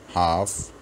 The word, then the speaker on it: half: एलएफ से हैं काफ, लेकिन काफ में और हाफ में हम ये बात याद रखेंगे, इसमें एल साइलेंट रहेगा, हाफ साइलेंट, एल साइलेंट रहेगा इसमें, तो ये पढ़ा जाएगा काफ, हाफ।